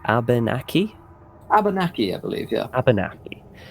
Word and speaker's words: Abenaki: We're a tribe called the how do you pronounce that? Abenaki? Abenaki, I believe, yeah. Abenaki.